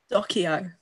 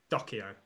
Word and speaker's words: Doceo: Charlotte, how do you pronounce it? Docio. Docio. Okay, so none of the ways that I said it.